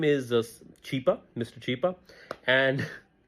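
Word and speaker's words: Chhipa: A humanitarian, his name is Chipa, Mr. Chipa, and she starts mispronouncing and she calls him Chupa, and yeah, Chupa is look it up, and that became a meme in itself in Pakistan.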